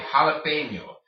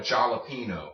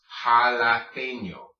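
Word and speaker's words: jalapeño: alipay mio jalapeno okay it is called a jalapeno it is not called a jar Latino or jalapeno okay it's pronounced jalapeno why because this NJ makes the n plus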